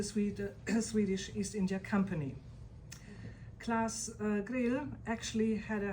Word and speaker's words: Claus: Uh is it class or to pronounce his name? Class.